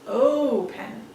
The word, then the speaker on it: open: and a consonant but is the accent on the last syllable no it's not it's oh pen so it's over here